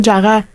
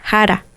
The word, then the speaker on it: Jara: Le le Jara, c'est pas Jara. C'est pas Jara. C'est haara ou que je pratique